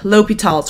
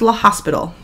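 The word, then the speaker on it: L'Hôpital: class today you're going to learn topic 22 l'hopital's rule it's not pronounced la hospital and this is your first bc concept what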